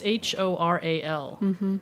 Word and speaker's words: HORAL: Oral, it's Horal.